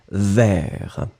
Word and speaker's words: vers: il doit aller vers, remember we don't pronounce the S, so it goes like vers. And it was sauter, the last thing, it's the verb, so savoir sauter.